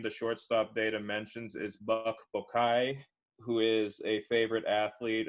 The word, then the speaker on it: Buck Bokai: Buck Bokai?